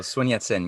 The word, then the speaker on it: Sun Yat-sen: And how do you pronounce this guy's name? Sun Yat-sen? Oh, Sun Yat-sen, yeah.